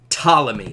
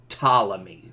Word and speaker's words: Ptolemy: was a guy named Ptolemy okay I'll write his name down Ptolemy's Ptolemy and by the way the the P is silent so when you're saying this guy's name it's just Ptolemy okay just Ptolemy this